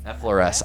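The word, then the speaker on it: Effloresce: Be sure to pick up Effloris. Did I say it correctly or butchered that? Effloris? Effloris.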